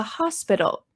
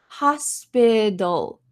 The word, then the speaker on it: hospital: to work at the hospital notice the pronunciation of this word hospital in American English this T changes to a deep so I want you